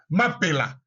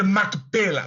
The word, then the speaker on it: Mapela: Dans la Bible, on dit Macpéla parce que c'est francisé.